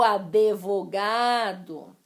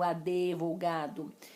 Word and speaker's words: advogado: Como que eu pronunciei esses sons? Advogado. Só que não existe esse E no advogado. Pneu.